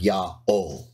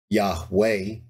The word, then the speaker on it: Yaho: did so in the name of their God Yao not Yahweh or yeah Jehovah and if you don't want